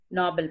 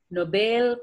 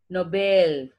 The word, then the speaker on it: Nobel: We tell it as Nobel Prize. No, it is Nobel Prize. Nobel. It is just like BALE.